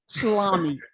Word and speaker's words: Schlamme: Spelled phonetically, Tommy Schlamme. Yeah, like Schlemiel Schlemazel Schlamme.